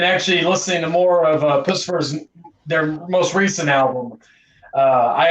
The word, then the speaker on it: Puscifer: Puscifer, I think I can never pronounce their name correctly. It's Puscifer, Perfect Circle, and Tool.